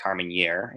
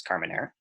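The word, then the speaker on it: Carménère: half sibling of Carmenere not to be pronounced harming year it's Carmenere and half sibling of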